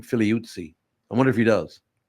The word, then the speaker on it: Figliuzzi: And I wonder, that's how you would pronounce the name, Figliuzzi.